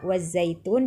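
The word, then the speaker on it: والزيتون: Alif lam asyamsiyah tidak dibaca meskipun tertulis di sana. Dibacanya wattini ya. Kemudian kata kedua wazaitun juga sama. Asyamsiyah alif lam syamsiyah. Wazaitun, wattini wazaitun. Begitu membacanya ya.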